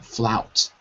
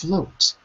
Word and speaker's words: float: So for example, if the word float, you're always saying flout. Oh no, it's not flout, it's float.